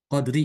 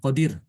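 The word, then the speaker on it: القدر: Misalnya lailatul qadr qadri ya. Ini apa nih? Qadri ya. Oh bukan qadir. Laqadir ya. Laqadir. Maka rnya dibaca tipis.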